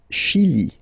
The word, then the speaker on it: Chili: Le Chili. Le Chili. Okay, remember, C-H, sh.